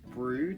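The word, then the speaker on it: Brewood: specific there was a place called brood it's spelled like briwood I'll put it here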